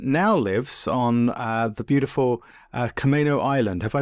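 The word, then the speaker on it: Camano Island: and Seattle, and now lives on the beautiful Camino Island. Have I pronounced that correctly?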